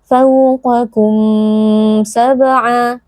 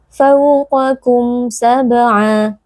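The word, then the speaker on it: فَوْقَكُمْ سَبْعًا: Cara membacanya adalah dengan menjelaskan atau mengizharkan bunyi huruf mim tanpa didengungkan dengan dengung yang panjang ya, tidak boleh dibaca fawqakum sab'a, tapi fawqakum sab'a. Ya, jadi hanya kita perjelas bunyi mimnya, tidak boleh dengungnya dipanjangkan.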